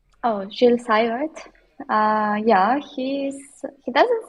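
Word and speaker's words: Gilles Seywert: How do you pronounce his name from Luxembourg? Oh, Jill Sart.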